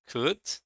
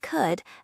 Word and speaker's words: could: Which consonant isn't pronounced in should, would, and could? In should, would, and could, the letter L is silent. Yes, that's true. The letter L is not pronounced in should, would, and could.